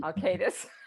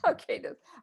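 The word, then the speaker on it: Alkaitis: Oh God, I'm not going to pronounce Alcatus. Alcatus. I want to pronounce the I, that first I. Then when you do that, it Alcatus. sounds like Al Qaeda, which is like I know, yeah, which is it's like awkward.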